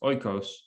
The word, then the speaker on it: oikos: I think phonetically it's actually pronounced oikos, and oikos means home, like literally.